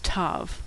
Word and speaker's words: tav: The last letter of the Hebrew alphabet is Tav, which makes a T sound, as in tango. Now some older Jews and Orthodox Jews will pronounce this letter as an S sound if it doesn't have a dot inside, but most people pronounce it as T, with or without the dot.